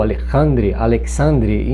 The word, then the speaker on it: Alexandre: Ele é dirigido pelo Alexandre Aja, ou Alexandre, enfim, a pronúncia é francesa.